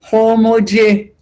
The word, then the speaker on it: homuce: Mo stowing this book the peppers maggots homoji.